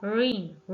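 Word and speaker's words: reign: word है हमारे पास रीन रीन में हमारे पास जी साइलेंट है देन हमारे पास लम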